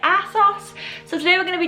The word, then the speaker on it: ASOS: going to be doing an a sauce a sauce I'm not sure which is the correct way to pronounce it but I say a sauce so today we're gonna